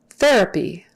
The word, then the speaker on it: therapy: alts olds therapy therapy py is like p therapy therapy that uh the a there then that syllable their uh therapy not their app they're happy they're happy that would stand out in a not great way have you done your